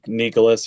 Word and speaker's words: Nyckoles: you saw Nicole's Harbor am I saying that right I always ask you if I'm saying it right like Nicholas yeah Nicholas Nicholas Harbor um very unique way to spell what many believe is a common name but Nicholas Harbor five